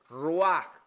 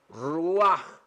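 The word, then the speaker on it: רוח: Dice, ruach, ruach. Siempre producen aquí al final, en el idioma hebreo, un sonidito ahí. Ruach, ¿ok?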